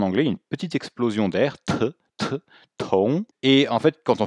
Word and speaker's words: 同: Alors au niveau de la prononciation, Tong, le T est une consonne aspirée.